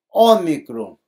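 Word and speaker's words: ὄμικρον: É o O em pó, ômicron, que é o nosso Ozinho aqui, ômicron.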